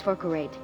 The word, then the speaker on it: Falkreath: That's hot, oh my, now it's Falkreath. Your pronunciation needs even more work than I thought. It's Falkreath, my dear student.